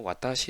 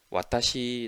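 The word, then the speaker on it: わたし: 그래서 우리 가 ' 와다시 ' 라고 쓰더라도 일본 에서 는 ' 와타시 ' 라고 발음 하거나 , ' 아 ' 라는 글자 를 써서 ' 앗타시 ' 라고 말 합니다 ."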